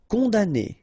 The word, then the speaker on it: condamné: Condamné, okay, so it's really strange because this M here, well, technically it's not pronounced.